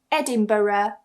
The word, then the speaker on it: Edinburgh: It's Edinburgh.